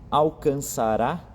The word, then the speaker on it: alcançará: Alcançará, com acento no último A, então falando de futuro, alcançará louvor, honra e glória.